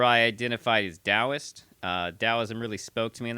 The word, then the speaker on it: Taoism: Uh it is technically pronounced Dowoism. Um there are actually to make things easier on white people, there are some people who now spell Dowism with a D.